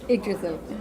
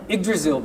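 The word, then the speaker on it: Yggdrasil: I I know that's wrong how do you pronounce it again igil igil project okay it's a really difficult name in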